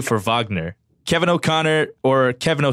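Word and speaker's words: Wagner: of talking about Mo vogner you corrected the pronunciation for vogner which is the correct pronunciation you know I'm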